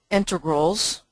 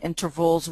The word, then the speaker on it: integrals: them at the beginning, I'm not saying intervals with a V, I'm saying integrals with a G.